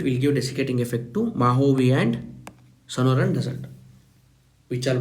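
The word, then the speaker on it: Mojave: It is pronounced as Mahovi desert, Sonaran desert in California.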